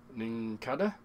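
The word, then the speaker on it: Nincada: Ninkada, that's how you pronounce it.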